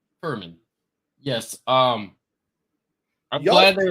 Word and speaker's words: Furman: How do you pronounce this team's name? Furman.